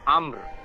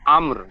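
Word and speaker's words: أمر: র আম- জাবার, জবর আমর, জি হামজা মিম র জবর আমর, উচ্চারণটা হবে ফিহা বিইذনি রাব্বিহিম মিন কুল্লি আমর।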